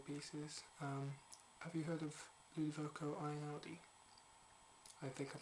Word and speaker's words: Ludovico Einaudi: Have you heard of Ludovico Einaudi? I think I'm pronouncing that right.